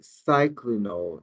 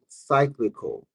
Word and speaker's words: cyclical: No, not No, not cyclinal, not cycli- Y'all know I'm saying that right? Cyclinal. If you look at my community tab, I don't know how to pronounce that word, but it's it's cyclical. It's two It's three C's. It's not two. It's three C's. Cyclical.